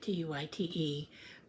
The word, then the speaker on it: Tuit: Um But, um Yeah, my last name is Tuit, t u i t. But, uh it's the e is silent. So, it's uh Tuit.